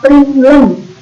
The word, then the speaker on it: println: Dan yang ini bacanya system out println.